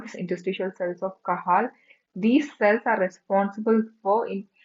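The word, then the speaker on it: Cajal: Interests of kahal or you can pronounce it as kajel. Kajal or kahal.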